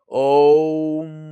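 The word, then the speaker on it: ओम्: কিভাবে বলবেন? লাস্টে টান থাকবে, ওম।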